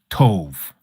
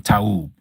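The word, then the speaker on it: טוב: Tove. Okay. To ov to ov. There's no O and there's no V in Tub. Tub. T Aub is the way we would we would spell it out.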